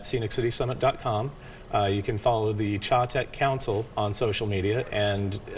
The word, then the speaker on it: Chattanooga: Chattanooga. Chattanooga.